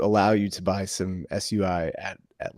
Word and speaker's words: SUI: to pronounce this, but it's SUI, not SEI.